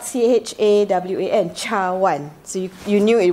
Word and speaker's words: cawan: So when you see c in Malay, you pronounce it as ch. So cawan, cup, is spelled cawan.